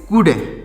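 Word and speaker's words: could: डी तो उसको पढ़ेंगे कुड क्या पढ़ेंगे कुड यहां पर जो एल लिखा गया है साइलेंट है तो उसको पढ़ेंगे इसको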